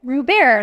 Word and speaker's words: Robert: Robert, last name is spelled like Robert. I always say the best thing that happened for me to explain my name to people was Steve Colbert being famous.